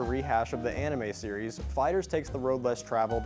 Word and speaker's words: FighterZ: Today, we're looking at Dragon Ball FighterZ, and yes, I checked the pronunciation on that, it's FighterZ.